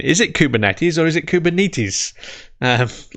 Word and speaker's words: Kubernetes: um and uh the the greek people that i've spoken to about this pronounce it kubernetes so uh we should